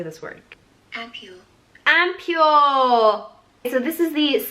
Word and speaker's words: ampoule: Ampule.